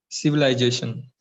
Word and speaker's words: civilization: Civilization. Z. You're saying sir. The sound is z. So civilization. Civilization.